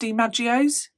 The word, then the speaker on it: DiMaggio's: found at her workplace I think it's pronounced DiMaggio's GI space m-a-g-g-i-o it was a pizzeria